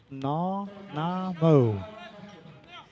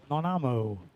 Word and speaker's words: Nanaimo: Nanaimo. Nanaimo.